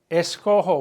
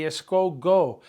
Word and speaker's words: escojo: Escojo with a J. If you had a G, it'd be escogo. You have to maintain that nice smooth sound of the J, of the G.